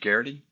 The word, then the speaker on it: Geraghty: Rhymes with charity. Say your name right? Is it Geraghty?